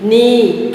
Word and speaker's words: knee: Knee, K is silent.